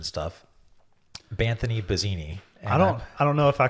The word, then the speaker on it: Vizzini: It's actually pronounced Vizzini. Oh, that's... Vizzini.